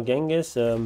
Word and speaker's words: Genghis: attacks hoping to weaken this is pronounced or genghis both are okay in english i believe jengus is closer to the original pronunciation um just put this in